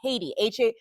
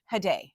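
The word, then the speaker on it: Haydée: out a character completely, Haiti, Hade is how it's supposed to be pronounced.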